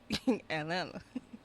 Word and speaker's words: Atlanta: Atlanta. You don't even pronounce the T. Right, you don't say the T at all.